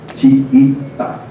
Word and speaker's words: chiita: Achi, pronunciado chiita.